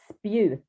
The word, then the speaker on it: Spjut: really nice introduction my my name surname is pronounced spute that's spear in english so spute oh